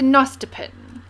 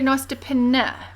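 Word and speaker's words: nostepinne: Right, so my husband very kindly got me now I would call this a nostopin, but I know some people call it a nostopina, pronouncing the E, or nostopini, or pinny. I've heard different pronunciations. Now it is a Scandinavian word, Norwegian, I think.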